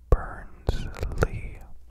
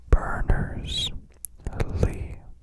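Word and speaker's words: Berners-Lee: was invented by Sir Tim Burns Lee in 1989 I said his name wrong I feel obligated to correct it the World Wide Web was invented by Sir Tim burners Lee in 1989.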